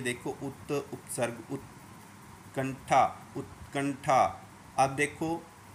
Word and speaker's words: उत्कंठा: मैं जानबूझ के त का उच्चारण कर रहा हूँ तो आपको आपकी सुनाई दे, आपको समझो, उत, नहीं तो इसका सही उच्चारण है उत, उत। हाँ, ऐसे ही कंठा, उत्कंठा, और थान में जुड़ने